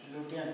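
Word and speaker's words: Lutyens: लुटियंस था, EDWIN Edwin लुटियंस, LUT naming word है, spelling में मत जाइएगा, LUTY एट लेफ्ट, एट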